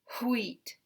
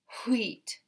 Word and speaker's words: wheat: It is okay to have HW at the beginning if we have a word like wheat and we want to put an HW. It's still one syllable because there's still one vowel. And we just add an extra push of air, wheat, wheat.